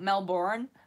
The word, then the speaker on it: Melbourne: The hardest part was saying the name like the locals, Melbourne. Yeah, not Melbourne. It's the same with people with cans. They say Cairns. We don't pronounce the R's.